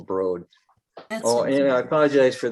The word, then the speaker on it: Broad: was uh exterior the broad art museum in in uh uh lansing or broad excuse me it's pronounced broad oh and i apologize